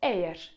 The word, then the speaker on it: eğer: Jeżeli miękkie G w słowie otoczone jest samogłoskami z grupy e, i, y, to wtedy czytamy je jako j. I przykładem tutaj będzie słowo ejer.